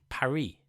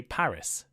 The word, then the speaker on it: Paris: some really obvious examples the capital of France is Pari but in English we say Paris why this difference well